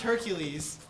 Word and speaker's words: Hercules: the gym a lot it's pronounced Hercules what if I'm beside